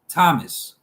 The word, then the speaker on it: Thomas: In some cases, th is pronounced just as t. Thames, Thomas, time, Thailand.